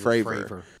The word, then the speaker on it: Fravor: I sincerely urge anybody who's never fully heard that Nimitz encounter with Commander, I keep saying his name wrong. Is it David Fravor? David Fravor.